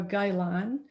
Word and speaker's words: gailan: And typically I would grow the vegetables I show here: bok choy, tat choy, Chinese broccoli, or gailan. Do I pronounce that right?